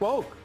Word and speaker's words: Wolk: No, it's Joe Wolk, W-O-L-K. W-O-L. I always say that. I know you do. Because it's pronounced woke.